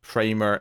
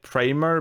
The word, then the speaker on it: Primer: And at some point, someone said Primer, but they pronounced it Primer, and I was triggered. I was so triggered by this posh pronunciation.